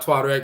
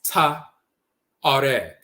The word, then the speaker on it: Tuareg: Even the Tuareg, it's really not Tuareg, it's Ta-Areg. The T is the feminizing principle and so forth, but it's the Areg people.